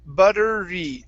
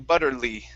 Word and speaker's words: buttery: buttery butterly okay now instead of an l sound at the end it's an r so it's buttery buttery okay so what